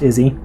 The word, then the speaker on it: Isi: ISI, but pronounced Izzy.